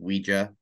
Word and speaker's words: Ouija: Someone told me it is pronounced Ouija. It is because it's from the German word, ja.